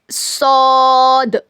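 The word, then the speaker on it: ص: सौद सौद सौद का क्या मखरज है? जबान की नोक को नीचे के दो दांतों के जड़ में लगाने से होता है।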